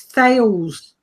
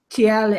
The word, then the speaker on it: Thales: were talking about this Thales. They like to call themselves TL or something stupid, but it's spelt Thales anyway.